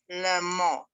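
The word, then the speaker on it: לעמו: For example, le, a, mo, le mo. You kind of say it fast. When I ask my Israeli friends, I say, just say it fast, le mo.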